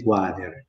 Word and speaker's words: quader: In milanese si scrive quader e si legge quader, sempre per quel principio, perché è preceduta dalla Q, in questo caso non dalla G, e seguita da un'altra vocale.